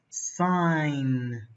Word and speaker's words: sign: and the last word what is the silent litter sign sign sign and the silent litter is DG okay thank you very